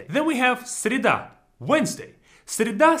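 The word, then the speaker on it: среда: should be sounding like cereta right but because it's not stressed again here is going to sound like sirida similar is going to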